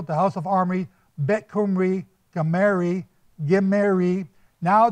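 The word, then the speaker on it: Khumri: said bet kumri k-h-u-m-r-i kumri and that's recorded in these tablets by uh the Assyrian King technopoliser now betkum Reeb changes into gemery k-h-u-m-a-r-i and the KH changes still pronounced the same way g-h-i-m-i-r-r-i Jamari now that's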